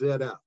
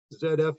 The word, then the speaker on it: ZF: Here in the United States, ZF has rebranded in the last couple of years as ZF, because here in the United States, we pronounce the 26th letter of the alphabet as Z, not Z.